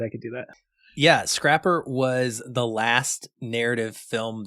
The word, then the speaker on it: Scrapper: it pronounced Scrapper yeah it's just Scrapper like scrap metal yeah I was saying scraper for a long time I don't know why